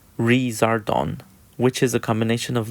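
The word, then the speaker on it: リザードン: burn and lizard it's Japanese name is Lazar dawn pronounced razor dawn which is a combination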